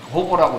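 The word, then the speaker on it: hover: 이렇게 하시는 게 이제 H 오버라는 겁니다. 호버라고 읽는데요.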